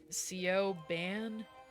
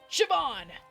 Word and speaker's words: Siobhan: Oh, let me pronounce it the way that he's probably pronouncing it. Sioban. Shabban. It's pronounced Siobhan.